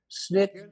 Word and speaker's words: SNCC: known as snick from the initials sncc is pronounced snick it was the wing of the southern civil